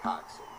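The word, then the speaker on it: coxswain: boat who does not row it's called a coxin spelled Cox c-o-x Swain but it's pronounced coxy and that person is the only person who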